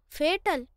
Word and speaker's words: fatal: Let me show you - What is 'fataal'? - It's pronounced as fatal, not 'fataal'...